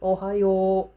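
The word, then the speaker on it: おはよう: Japanese, they say it ohayo, ohayo. So o, you, it ends up with u and a. Ohayo, u and a. So this will make the pronunciation longer.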